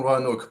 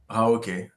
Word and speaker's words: Roanoke: got it wrong because I misread Roanoke. All this time, I thought it was with an A-O and not O-A, so I pronounced it in my head Raoke and Raonoke, and I like the